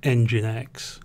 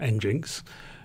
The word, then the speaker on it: nginx: i only recently discovered is pronounced engine x not engines but um specifically we